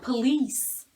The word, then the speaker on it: police: tomorrow and this is police police the stress is here so this is unstressed police these two words again